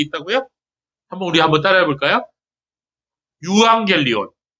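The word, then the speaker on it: εὐαγγέλιον: 이거를 이제 독일어를 하시는 분들은 오이앙겔리온이라고 읽더라고요. 예, 제가 이제 신학교 다닐 때 독일에서 공부하고 오신 교수님이 있었는데 그분이 유앙겔리온이라고 안 하고 오이앙겔리온이라고 읽더라고요. 예, 독일어는 그 발음을 오이라고 하거든요.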